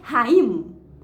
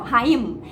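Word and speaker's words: חיים: A palavra vida no hebraico, ela pronuncia raím, né? Você fecha a boca no final, raím.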